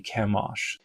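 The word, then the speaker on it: Chemosh: they say the name of this god to Kimosh the god of Moab. And this is how Bible scholars have a consensus that this is pronounced in English of the Moabitete patron deity Kamosh.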